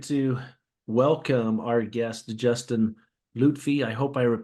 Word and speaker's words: Loutfy: You were close though. It's Loutfy. But Loutfy, everyone okay. everyone Thank pronounces you. it Loutfy, so you're normal. You're in the same boat as everyone who reads it.